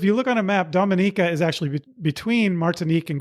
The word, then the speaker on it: Dominica: too because if you look on a map Dominica did I say it right this time yep y okay so if you look on a map Dominica is actually between martinque and guadaloop which are